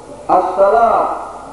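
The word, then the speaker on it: الصلاة: যে ব্যক্তি দেখছে অবশ্যই সে আলেম দাবি করছে আসসালাতুল জান্নাত নামাজ বেহেশতে মারাত্মক ভুল হাদিস সত্য হাদিস সত্য ওই ব্যক্তি মারাত্মক ভুল করছে এই বিষয়ের বছরের মধুর আরবি জ্ঞান তার নাই কেন আছে আসসালাত জান্নাত আসসালাতের মধ্যে আলিফ লাম সোদ তারপরে লাম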